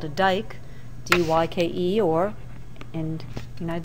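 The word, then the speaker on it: dyke: existing layers of sedimentary rock are called a dike, D-Y-K-E, or in the United States we usually spell it D-I-K-E.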